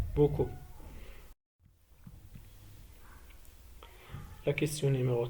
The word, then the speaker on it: beaucoup: Les mots qui contiennent la lettre C, elle se prononce K, sont connus, beaucoup.